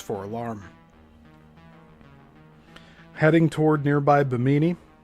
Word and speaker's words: Bimini: Heading toward nearby Bimini or Biminy. I think the pronunciation's biminy.